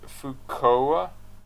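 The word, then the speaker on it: Fuuka: No, Knight, it's pronounced Fukoa.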